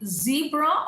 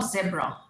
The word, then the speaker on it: zebra: Next one, they say zebra or zebra. It's zebra or it's zebra. Again, there is a lot of variation in British American.